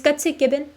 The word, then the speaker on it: Gutsick Gibbon: No, you guys got it right. That's true. It's Gutsick Gibbon.